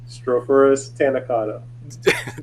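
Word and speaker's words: Strophurus taenicauda: Strophurus tanacata.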